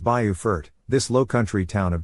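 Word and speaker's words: Beaufort: Now to the Carolinas where affordability meets coastal charm in Bufort, South Carolina. Pronounced Bayufort, this low country town of just 13,000 residents feels timeless.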